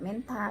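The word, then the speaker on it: mentha: Kemudian TH dibaca T. Nah, menta. Bacanya tidak menta tetapi menta.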